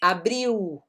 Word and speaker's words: abril: O L, no final das palavras tem som de U, lembra que eu tinha comentado aqui, abril, ok? Brasil, né? Mas no começo de palavras ele é um L normal, né?